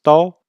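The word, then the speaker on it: 刀: couteau ou sabre d'ailleurs il se prononce tôt c'est aussi un composant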